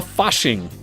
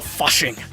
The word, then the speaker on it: Fasching: then there called the fashing and it is said I know I can't say it right it's like the fashing because it is a German event and essentially it's a